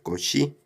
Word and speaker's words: Cauchy: Ok, ahora vamos a hablar sobre el tetraedro de Cauchy. Tetraedro de Cauchy. Bueno, Cauchy pues era un matemático y bueno, y físico también, francés, ¿no? Por eso se pronuncia más o menos así, Cauchy.